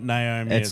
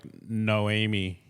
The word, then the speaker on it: Noemi: yeah, no, it's not Naomi. It's spelt weird. It's like Noemi. I'm not even lying, bro. Yeah. It's like it's Noemi. I'm sure of it.